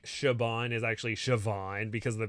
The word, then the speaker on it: Siobhan: like Siobhan is actually Siobhan because the B is pronounced like a b or the or the B is pronounced like a V so it's just like